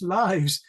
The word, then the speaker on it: lives: yourself and say lives they always pronounce it as the verb like he lives in a big house so they say able to live younger lives oh no no it's lives but I don't have